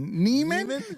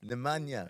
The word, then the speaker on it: Nemanja: Neiman? You made him Neiman? How do you pronounce it? Nemanja.